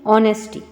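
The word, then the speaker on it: honesty: तो नाउन बन गई ऑनेस्टी इसको नेस्टी नहीं पढ़ेंगे एच की साउंड इसमें नहीं आएगी इसको क्या पढ़ेंगे ऑनेस्टी एच इसमें साइलेंट रहता है एच की आवाज़ नहीं आती है तो इसको पढ़ेंगे ऑनेस्टी ईमानदारी दूसरा है काइंड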